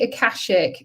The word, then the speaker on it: Akashic: It's the Akashic.